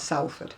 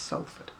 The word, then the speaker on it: Salford: It's not Salford, it's Sulford. It's pronounced as though it's got an O in it.